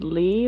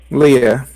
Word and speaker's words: Leah: Is it like pronounced Lee or is it Leah? Leah.